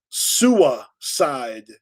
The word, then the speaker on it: Sua Side: It's uh Sua Side Squad, the Warriors. See, it's SUA, right? Yes sa because in New England we don't pronounce our Rs. So it's Sua side.